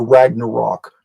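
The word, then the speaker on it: Ragnarök: the final war the Ragnarok or ragnaro however you want to pronounce it the great battle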